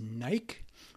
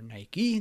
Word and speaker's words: Nike: here for a swing trade Joe next is Nike or Nike depending on how you want to pronounce it NK is the stock symbol uh